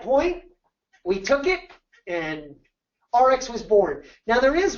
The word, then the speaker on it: ARIIX: do the play on RX like a drug in the way you pronounce it r x so we still have